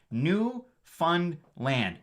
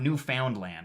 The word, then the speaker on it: Newfoundland: canadian province actually pronounced it's pronounced new fun land newfoundland it's not newfoundland i see a lot